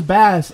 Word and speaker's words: Bass: You know, it's pronounced as Bass in Mega Man 8, so let's go with that.